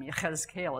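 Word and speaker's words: יחזקאל: Yahazkel is how you say it in Hebrew.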